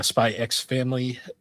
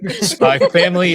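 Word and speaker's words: Spy × Family: My uh Spy X Family. I just called it Spyx Family. Gross. Spy Family season 3. Actually, you don't pronounce the X.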